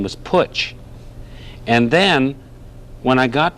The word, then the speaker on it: Putch: Somehow or other, that was easier to say because it rhymes with Dutch and Putch, Dutch.